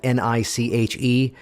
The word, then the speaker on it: niche: throw in the riddle the word that spelled ni CH e how's that pronounced it thank you because niche rhymes with rich there's no more niche